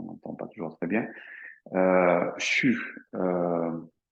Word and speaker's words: xu: CHU, donc ça s'écrit XU.